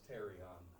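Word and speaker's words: pterion: PT I in okay so the p is silent that's terion and taking that PT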